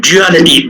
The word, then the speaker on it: duality: It is duality, D-U-A-L-I-T-Y. So do not get confused with respect to the pronunciation. Sometimes it may be thought that duality, J-E-W-E-L, dual.